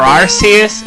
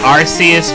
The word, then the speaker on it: Arceus: It's clearly, it was spelled Arceus with an S in the Japanese spelling, and now you're trying to tell me that it's pronounced with a hard C?